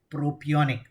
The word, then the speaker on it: propionic: Pronounce properly. Propionic.